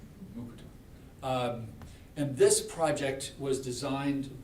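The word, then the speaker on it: Mukurtu: It's always hard for me because you don't pronounce the R. Mukutu.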